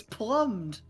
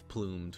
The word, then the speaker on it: plumed: how did you risk pronounce the name as plummed yeah it's plumed whatever i don't care